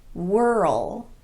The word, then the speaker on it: whirl: Some other examples would be pearl, whirl, hurl, swirl, and twirl. Every one of these is technically a single syllable word, but they're pronounced as if they have two syllables.